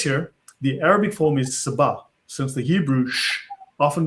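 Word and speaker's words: سبأ: Now he says here, for instance, down below, that in Arabic this is Sabah, right? Because the sh in the Jewish pronunciation becomes s in the Arabic pronunciation.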